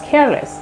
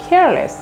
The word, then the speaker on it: careless: বলতে হবে I was careless. I নয়, সে was. I was care নয়, যেখানে যেখানে আমরা ক উচ্চারণ করি এখন থেকে সেখানে সেখানে আমরা খ উচ্চারণ করবো। সো careless.